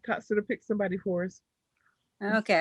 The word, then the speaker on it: Tatsada: I'm hoping to say Thatsada. Is it Thatsada? Am I saying your name correctly? So it's Tatsada, Jim. It's Tatsada. Tatsada. Okay. Yeah, the H is silent, so it gets everybody.